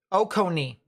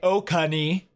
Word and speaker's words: Oconee: the cone so okani oconee oconee oconee oconee oconee hopefully that's how it's pronounced very short o very long cone e okay got it got